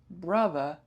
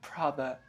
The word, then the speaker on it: brother: It is brother B not brother P or the shortened brother bro. It is bro not pro because the meaning will change.